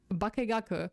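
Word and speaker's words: 化学: I mean, I know, but the sources I learned Japanese from said that both kagaku and bakegaku pronunciations are correct in this context.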